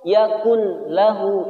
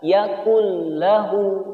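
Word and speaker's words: يكن له: Yakul lahu atau yakun lahu, ini tidak boleh. Tapi cara membacanya adalah yakul lahu, nun sukunnya tidak terlihat atau tidak terbaca.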